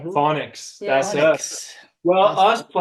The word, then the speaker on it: Faunix: I think that's how they say it. That's right. Phonics.